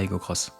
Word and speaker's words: Aygo X: Ça, c'est la Toyota Aygo Cross. Elle s'écrit X, mais se prononce Cross.